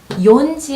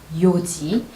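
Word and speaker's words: 四時: 요지, 연지 아닙니다. 요지. 그 다음 나나지 아니고요.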